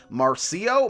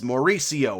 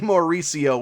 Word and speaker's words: Mauricio: you're going to want to go with ronnie marcio marcy i'm just i'm i can't say his name i took a break and i figured it out and it's mauricio ronnie mauricio we got it on the eighth try uh